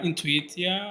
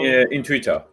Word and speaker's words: Intuita: Did I spell it right? Intuitia? How? Intuita. Intuita. Okay. Yeah. So I can pronounce it more in Spanish, like Intuita.